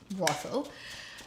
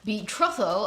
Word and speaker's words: betrothal: I haven't seen that one that I've earlier wrongly pronounced as brothel. Betrothal, I haven't.